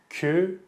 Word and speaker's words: küçük: It's küçük. Küçük. Küçük. Küçük. You might have a hard time pronouncing the letter ç. It's just ç.